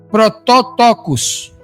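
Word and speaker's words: πρωτότοκος: Protóotocos é o é é o nome que se pronuncia aproximadamente na língua grega, que significa primogênito, certo?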